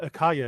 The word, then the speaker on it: Akaya: And is it uh Akaya? Is that the correct pronunciation of your name? Yeah, that's right.